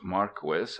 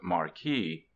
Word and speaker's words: Marquis: perfect state by Don Maris Don Maris is a real name not a pseudonym it is pronounced Marquis not Marquee I reprint here two